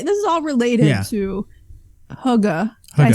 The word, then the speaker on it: hygge: but the relay this is all related to Hugga can I say it right yeah now hygge